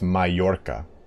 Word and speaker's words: Mallorca: It's pronounced Mallorca.